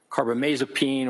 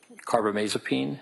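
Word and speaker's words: carbamazepine: I mean for example lithium or carbomasopene or valproic acid those are all mood stabilizers.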